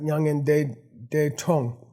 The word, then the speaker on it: mya ngan las 'das grong: By the way, our prediction of the correct pronunciation is correct, Nyangen De Tong.